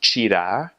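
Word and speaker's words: tirar: there's a TI so the word for to take something is Cheeta spelled TIR AR Cheeta and so that's different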